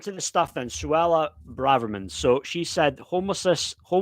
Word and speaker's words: Braverman: I was saying Braverman, but it's actually Braverman, isn't it?